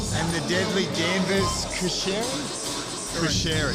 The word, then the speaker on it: Cuschieri: Cuschieri, there we go. I was hesitant to pronounce his last name.